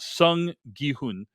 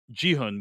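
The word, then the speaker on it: Seong Gi-hun: that was very bad uh his name is pronounced Sun gun uh and not jiun which is how I pronounced it and so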